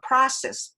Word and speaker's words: process: process 그때 process 이거는 process 아가 됩니다. 그래서 process 이렇게 돼요.